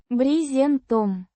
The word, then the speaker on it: брезентом: Брезентом. Means with tarpaulin or with canvas. Pronounced Брезентом. with the stress on the first syllable.